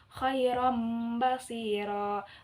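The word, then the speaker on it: خيرا بصيرا: Di atasnya ada mim, maka di situ yang tadinya dibacanya khairan basiro, maka karena di sini ada huruf ba, maka menjadi mim. Khairan basiro, khairan basiro.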